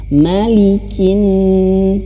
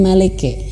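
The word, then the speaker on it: مَلِكِ: dagunya ini kurang turun harus dibaca Maliki bukan maleke ya ini agak keliru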